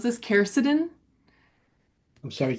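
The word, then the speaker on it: quercetin: Ruth Roberts I'm so sorry if I mispronounce this. Keridin.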